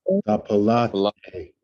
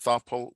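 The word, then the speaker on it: tefillati: Tapalate. Not thapal, not thapalthe. Not the palthe. Thapalate. And Tapalate.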